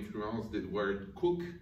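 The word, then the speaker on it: Coke: l influence des toilettes cook on écrit comme un boissons gazeuses mais que les britanniques selon leur sens inné de la prononciation le prénom ce coq juristes de jeu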